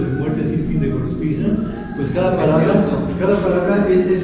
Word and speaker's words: Gorostiza: ¿Cómo se escribe Pero Gorostiza?